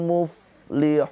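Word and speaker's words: المفلحون: Awas fa ini mempunyai sifat ada sifatnya sifat hames. Ya, sifat hames yaitu ada aliran nafas. Muf muf. Jadi jangan mubli mub tapi muflihun.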